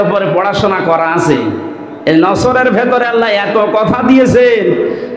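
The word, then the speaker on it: نصر: নিয়ে আমরা তাফসীরুল কোরআন মাহফিলে প্রবেশ করছি সূরা নসর কোন সূরা বলেন বলেন নসর না নাসর নুন সোয়াদ র নাসরুন শব্দের শাব্দিক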